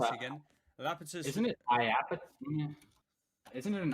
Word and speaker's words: Iapetus: Pronounced Iapetus.